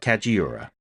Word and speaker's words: Kajiura: kajiura kajiura yeah I never say it right kajiura there we go beautiful one can hear the